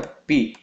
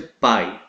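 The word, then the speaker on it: πι: nós temos a letra PI na no inglês eles chamam de pai mas a pronúncia correta é pi mesmo ok da Qual é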